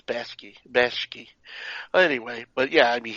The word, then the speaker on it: Bakshi: Ralph Bakshi, I think it's pronounced Bakshi. Bakshi? Yeah. I always thought it was Bashki.